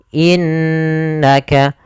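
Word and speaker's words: إِنَّكَ: lafal innaka di sini ada bacaan gunah yaitu adanya huruf nun yang berharakat tasdid maka cara membacanya itu kita menahan suara ghunahnya seketika itu suara nunnya yang ditahan innaka kesalahan yang terjadi pada lafal ghunah ini adalah dia tidak menahan bacaan ghunahnya langsung saja innakaaminal padahal harus ditahan innakainal mursalin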